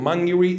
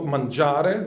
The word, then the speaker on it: Mangiri: Um the uh the two books one is called Mangiri it's not mangare there are some it's mangiri mangiri means well healthy